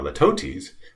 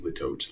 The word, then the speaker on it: litotes: Now, litotes is sort of the opposite of that. It's an understatement. And there's different ways to pronounce this. Litotes, litotes, whatever.